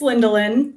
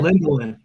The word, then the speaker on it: Lindelien: It's Lindelien, but Lindelien. So Lindelien, the fisheries biologist here close to me in Florida.